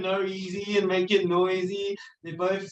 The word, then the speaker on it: NOEASY: What's the right way to say it? Oh, you can say noisy. It's Noisy.